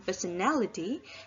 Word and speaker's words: personality: If it's added a suffix ality and become personality, the stress moves from the first syllable to the third syllable, which means that the